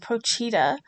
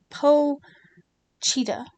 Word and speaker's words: Pochita: working on today is Prochetta. Uh, which she says I'm saying it wrong, but that's how it's spelled. P O C H I T A. Po Cheetah. If y'all are familiar with that show, let me know.